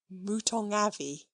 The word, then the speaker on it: mouton au navet: "Mouton au navet," added the butler gravely, "pronounced, if you please, mouton avis.